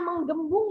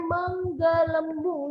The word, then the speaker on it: menggelembung: Di perutnya nih, yang bikin dia menggelembung ya, ini bukan menggembung ya sayang, tapi dibacanya menggelembung nih.